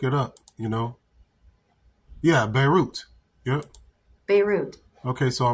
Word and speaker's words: Beirut: to explosions at a uh what is this barut airport barut how to pronounce that see yeah you got to go